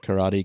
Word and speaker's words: karate: I'll probably continue calling it Karate Kid, but just be aware it's not out of ignorance. I do know that the correct pronunciation is karate. Not to big league anybody who doesn't speak Japanese. But the reason I wanted